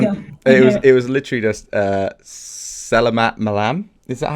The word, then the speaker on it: Selamat malam: It was literally just Selamat Malam. Is that how you say it? Selamat malam.